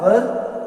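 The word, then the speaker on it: were: इसकी helping verb क्या है, वाज, वर और वर्ब के साथ आईएनजी लगता है। इसका प्रोनाउंसिएशन वर्ब होता है, वेयर नहीं होता, वर होता है। वेयर तो WHER को वेयर कहते हैं।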